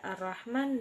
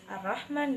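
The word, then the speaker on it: الرحمن: Kesalahan yang sering terjadi yaitu ketidaksempurnaan pengucapan pada Ar-Rahman dan Ar-Rahim, yaitu H kecil dibaca seperti H besar, dan itu keliru.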